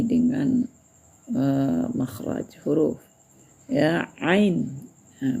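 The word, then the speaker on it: ع: Bagi yang belum mengerti dengan ee makhraj huruf ya ain. Nah, bar di atas nanti berbunyi aa bukan a. Nah, ya ainnya jangan ditinggal tapi tinggal menambah ee suara ain tambah a aa itu ya.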